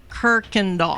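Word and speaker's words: Kuykendahl: It's like in Houston there's the road Kirkandall. There's not an R in there. It's K U Y but it's pronounced Kirkand Doll.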